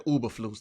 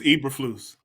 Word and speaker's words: Eberflus: I keep calling the man Uberflus. Now, what's the man name? I think it's Eberflus. I was Eberflus. close. Yeah, you were close. All right, so Eberflus goes in at halftime, makes adjustments.